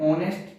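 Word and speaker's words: honest: तो हमारा यहां जो हिंदी मीनिंग की अगर हम बात करें तो ही इज एन ऑनेस्ट teacher. वह एक ईमानदार अध्यापक है। तो यहां पर देखेंगे इसका प्रोनाउंसिएशन क्या निकलता है?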